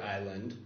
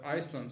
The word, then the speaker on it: island: So someone somehow just stuck the S in there, assuming that it somehow needed to fit, but no one ever pronounced it like that. So now we have Iceland, or island. Okay. And the S got stuck.